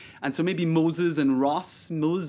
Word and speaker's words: Ross: of China Moses, and so maybe Moses and Ross, Rose, and he pronounced her name Diana Rose.